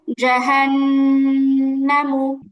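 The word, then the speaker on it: جَهَنَّمُ: উচ্চারণ তাড়াতাড়ি পড়তে হয় এখানে মাদের কোন কিছুই নেই মাদের হরফও নেই মাদের হরকতও নেই তাহলে টান হবে না আবার জাহান্নামু জাহান্নামু নুনে টান হয়ে যাচ্ছে জাহান্নামু এরকম হচ্ছে উচ্চারণটা হবে জাহান্নামু জাহান্নামু হরকতের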